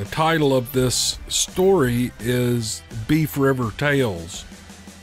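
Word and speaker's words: Boeuf: Here is an email from Tom, and the title of this story is Beef River Tales. Beef is spelled B-O-E-U-F.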